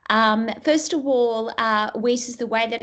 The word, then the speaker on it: WiCyS: regards to whis um first of all uh whis's the way that it's actually pronounced is uh meant to reference we cyber